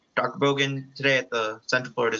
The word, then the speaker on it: Bogan: All right, Dr. Bogan? Hi. Or is it, did I say it right? That's right.